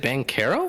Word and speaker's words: Banchero: Is it Banchero? It's Banchero, technically, with it, the way he pronounces it.